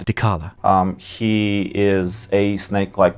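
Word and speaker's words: Dechala: And the first one that we're going to reveal today is the Chala, the denied one. We mispronounced Decala's name throughout the rest of our interview. Please imagine we are saying Decala.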